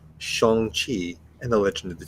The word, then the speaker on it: Shang-Chi: on the same page it is pronounced shong chi and the legend of